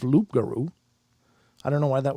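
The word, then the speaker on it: rougarou: cree algonquin hybrid language the word rugaru is indeed a cree pronunciation of loop guru i don't know why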